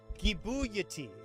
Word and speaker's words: Gibuyati: Gibuyati. That's how you pronounce it.